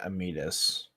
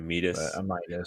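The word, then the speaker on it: Amytis: places because his wife is it Amitis? Is that how you say it? I always just say like Amidas, but Amitis. Amy Amidas, Tis. Amitis, okay.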